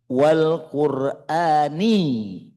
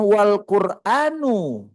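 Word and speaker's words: والقرآنِ: Kenapa bacanya bukan wal quranu tapi wal qurani? Ah ini namanya bersahabat ya. Kenapa dibacanya wal qurani? Karena huruf wau dalam surah Yasin itu fungsinya wau qasam, wau bersumpah. Artinya Allah bersumpah dengan Al-Qur'an yang mengandung hikmah, pengetahuan. Wal qurani jadi kalau dibacanya wal quranu salah.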